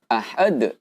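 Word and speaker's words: أحد: Nah, di sini ada huruf dal lagi, teman-teman. kemudian berada di akhir ayat, ya, dan kemudian kita wakafkan di sini. Maka huruf qalqalah ini, ya, cara membacanya adalah dengan qalqalah kubra.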